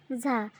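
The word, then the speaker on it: ز: এটা হলো ঝা, এটা হলো ঝা। এটা জিহ্বার আগা, সামনের নিচের দুই দাঁতের আগা ও পেট থেকে আদায় হবে।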